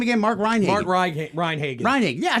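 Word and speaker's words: Mark Rein·Hagen: Mark Reinhagen.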